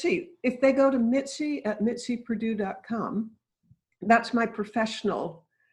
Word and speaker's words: Mitzi: Mitzi, if people want to learn more about you